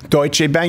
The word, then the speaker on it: Deutsche Bank: the free market anymore how did you pronounce that Deutsch a Deutsche Bank you do it all properly Chancellor I do with